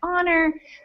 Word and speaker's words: honor: But it's funny because a lot of those words get mispronounced, like honor. People say honor instead of honor, and hour instead of hour.